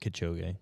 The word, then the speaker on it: Kipchoge: people How do you around pronounce him that? are patient. Kipchoge.